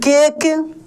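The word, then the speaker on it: cake: पे लास्ट में दोस्त जो ई है इ का कोई यहां पे उच्चारण ही नहीं हो रहा है सी ए के ई केक क्या हो जाएगा केक एल ए टी ई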